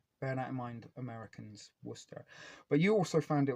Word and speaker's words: Worcestershire: America they call that Worcestershire and Americans think they're all very smart and clever when they can say worshire Source but if you're from England you know it's pronounced Worcester Source um so there